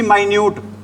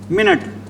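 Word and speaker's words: minute: एक होता है भी, इसको बोलते हैं, दोनों की स्पेलिंग क्या है? सेम है। स्पेलिंग दोनों की क्या है? इसको बोलते हैं, क्या बोलते हैं भी? माइन्यूट। और इसको क्या बोलते हैं? मिनट।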